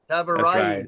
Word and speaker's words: Tabarraee: My name is Tabarraee. It's actually a very difficult last name because it's in Farsi, and so I always say I'm just. Yeah, Tabarraee.